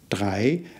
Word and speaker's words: Drei: Drei. Again, the same sound, isn't there? A. And the R sound will need some practice, but it's more at the back of your throat rather than formed with your tongue.